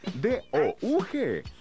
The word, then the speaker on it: Doug: Es zurdo, le encanta el pudín de banana y su nombre se escribe D-O-U-G, pero se pronuncia Doug.